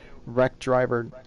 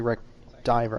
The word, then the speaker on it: Wreck Diver: So we'll go to Wreck Driver, or it's actually Wreck Diver. I was saying it wrong the whole race.